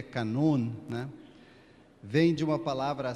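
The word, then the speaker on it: κανών: Eh, o termo grego canon, na verdade, na pronúncia grega e na acentuação grega é canon, né?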